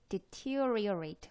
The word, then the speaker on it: deteriorate: deteriorate. 발음이 쉽지 않아요. deteriorate. 여기에 강세가 갑니다. 이 음절.